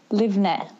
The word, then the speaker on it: Livne: On the E at the end.